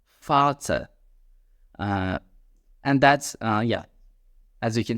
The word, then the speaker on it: Vater: For example, in the words that you can see on the screen, we will pronounce it as Vater, Vater.